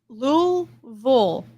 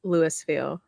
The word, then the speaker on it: Louisville: I was imminent imagery Louisville oh is that is that it yeah kinda you can say Louisville or Louisville Louisville or Louisville but don't say Lewisville okay so I can't say